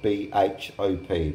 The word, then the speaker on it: bhop: It's a video to show my daughter Kelly how to cook bhop, spelled B-H-O-P, pronounced bhop, which is a Macedonian dish with pork and beans.